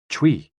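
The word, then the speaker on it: chui: associated with the lungs c-h-u-i pronounced like tui with a forceful exhale which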